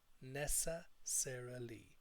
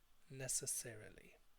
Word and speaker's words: necessarily: you to pronounce this imagine that there are three people living inside this word a girl called Nessa a girl called Sarah and a guy called Lee Nessa Sara Lee necessarily necessarily so I advise students